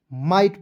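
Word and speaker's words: might: अब बताइए दोस्तों MIGST को क्या पढ़ेंगे, माइट पढ़ा जाएगा।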